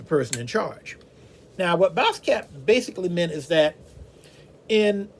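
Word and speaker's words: baasskap: boss cap now uh this is a dutch word and it's spelled b-a-s-s-k-a-p now boss cap basically not boss b-a-s-s means the same thing as boss in english which is b-o-s-s in other words the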